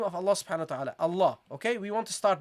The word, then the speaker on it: Allah: you say Allah okay when you say Allah how do you pronounce it you say ah ah you start with this with this sound the sound of the hamza A a that's how you start.